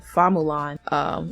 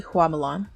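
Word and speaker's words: 花木兰: The 1998 Disney film, which is the one I've seen, the Hua pronunciation from Mandarin is changed to the Cantonese pronunciation Fa Mulan. It's said specifically for American audiences, basically. It's actually Hua Mulan.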